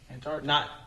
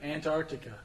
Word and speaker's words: Antarctica: The way some people say it is quickly to where the first T is not there. They just say Antarctica. That's not correct. There's a T. Pronounce it, people.